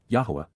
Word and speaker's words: Yahowah: Respect and revere, appreciate the astonishing awesomeness of Yahuwah, Yahowah, the proper pronunciation of the name of Eloah, God as directed in